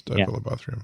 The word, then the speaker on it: Diphyllobothrium: It's probably the Diphilobopterium. Yeah, it's Diphilobopterium. That's right. It's Diphyllobothrium. And then it's how do we pronounce that?